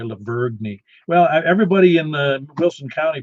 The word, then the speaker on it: Lavergne: Yeah, that's right, Lavergne. Well, everybody in Wilson County pronounces Lebanon wrong, but that's just me.